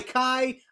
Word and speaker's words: KAJ: Bara bara bastu by Kai. Yes, I'm saying it correctly because I called him Kaj for some reason on my reaction video.